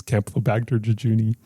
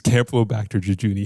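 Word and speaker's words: Campylobacter jejuni: additional 13 people okay that was how to pronounce camplobacter jejuni yeah there's 13 more cases of people being infected with uh the disease Camp low back to jejuni how many times can I say that within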